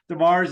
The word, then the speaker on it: DesMarais: If it's the French pronunciation is DesMarais, the American presentation DesMarais is good. So either way, we're good.